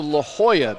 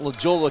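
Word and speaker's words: La Jolla: It's also La Hoya, not Legola, California. In case I've never said Lejola. I think you may have. No way. I know La Hoya very well.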